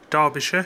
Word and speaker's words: Derbyshire: don't live in middle-earth it's not shire it's so it's Derbyshire where I live Yorkshire